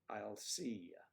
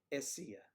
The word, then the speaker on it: Assia: The I is wrong. You're saying I'll see ya. That's wrong, right? Okay, so it's essia, essia, essia.